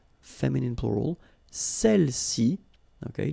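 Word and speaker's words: celles-ci: Feminine plural, celle-ci. Okay, don't pronounce the final S.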